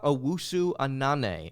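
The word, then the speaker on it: Owusu-Anane: and that's brown forward Nana auu Anan is how you pronounce his name auu Anan being a hyphenated last name he has entered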